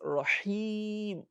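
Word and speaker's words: رحيم: The word is Rahim. It is ha. Rahim. As I said, you can just place your hand in front. You feel the breeze touching your palm if you are pronouncing ha correctly.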